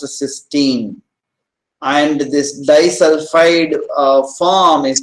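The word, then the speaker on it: cysteine: amino acid with the free thol group is pronounced cine and this dulfi form is pronounced as ctin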